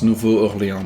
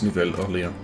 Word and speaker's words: Nouvelle-Orléans: I thought it was Nouveau-Orléans, but apparently it's Nouvelle-Orléans. Instead of male, it's female.